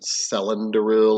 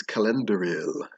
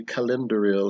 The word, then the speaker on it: Celendoril: want to pronounce it cylinderil or celandoral or even calendural if you're doing the hard c which is actually what it's supposed to be uh but technically the pronunciation is calendering uh although calendar